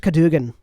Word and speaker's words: Cadwgan: The name is Cadogan. The other gnome says, because it's spelled Cadwgan.